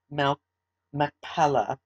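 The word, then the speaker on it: Machpelah: and we're going to begin that now parashat sarah abraham purchases mel mcpella and that is spelled m-a-c-h-p-e-l-a-h now sarah's life was 127 years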